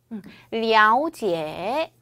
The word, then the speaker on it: 了解: 그 다음 요거 진짜 많은 분들이 이거를 자꾸 러라고 읽어요. 이거 발음 어떻게 해야 돼요? 了解. 죄송해요. 了解에서 AO.